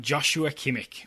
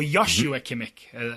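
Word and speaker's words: Joshua Kimmich: prediction is all about Joshua kimik or yosua kimik as I think is the the correct pronunciation he's either going to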